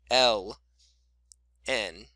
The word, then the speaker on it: ln: of b okay and this is again the letter l n so we pronounced it as l n of b okay so why is